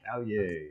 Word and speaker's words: Caillet: we have with us alyssa caglier is that right how we pronounce that last name callie yes she is with uh